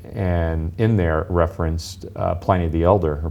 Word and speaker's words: Pliny: in there it referenced Pliny the Elder, or Pliny the Elder is the proper way to say it.